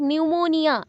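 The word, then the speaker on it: pneumonia: stress देने के लिए अभी आप बोलोगे न्यूमोनिया तो पी से स्टार्ट हो रहा है बट न्यूमोनिया एन पे ज्यादा हमने फोकस किया स्ट्रेस दिया न्यूमोनिया ठीक है पी साइलेंट हो गया तो ऐसे हम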